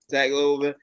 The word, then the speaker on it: Tagovailoa: And before we jump into the games, first news out is that Miami Dolphins QB Tua Tagovailoa, I can never pronounce Tua's last name. Tagovailoa.